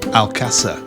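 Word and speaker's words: Alcázar: 12th and 13th century i think it's actually pronounced alcasa it's a fortified city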